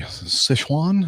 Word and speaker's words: Sichuan: Let's see, Sichuan, is that how you would pronounce Sichuan? Sichuan? That's exactly right.